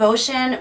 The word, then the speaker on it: Bocian: you okay and and ocean we're spelling b o c c i a n but to pronounce it it's like ocean with a b ocean with a b